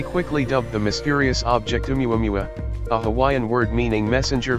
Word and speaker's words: Oumuamua: It was clear from the start that Oumuamua, pronounced Oumuamua, would shake up astronomy's status quo.